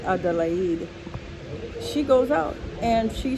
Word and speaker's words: Adelaide: We would say Adelaide, but in Madagascar we pronounce it Adelaide.